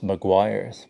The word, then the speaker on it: Meguiar's: of this um Mears people say that it's Maguire but I've never seen Maguire spelled like this so this is the